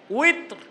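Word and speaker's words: وتر: তো উচ্চারণটা কি হবে? উইতর। কয় রাকাত পড়েন? এই যে 3 রাকাত বেতের পড়েন, 3 রাকাত পড়া নীতি হিসেবে সুন্নাত, হুকুম হিসেবে ওয়াজিব।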